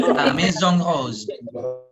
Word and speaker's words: La Maison Rose: La Maison Rose. Oke, La Maison Rose. Jadi I-nya nggak dibaca, nggak Maison ya. Jadi Maison Rose ya.